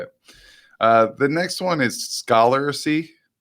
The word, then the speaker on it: Scholarcy: The next one is Scholarcy. So Scholar with CY at the end.